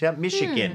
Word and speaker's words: Michigan: มี ชิน นะ ฮะ แต่ ว่า มัน ออก เสียง เป็น SH นะ ทั้ง ๆ ที่ สะกด ด้วย CH michigan นะ ฮะ แล้ว มี